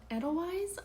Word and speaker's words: Edelweiss: The other book that I had that I gave 4 stars to was Codename Edelweiss, I think is how you say it.